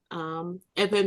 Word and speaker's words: Erverh: Erverh means Hebrew. That's the real pronunciation of the word Hebrew.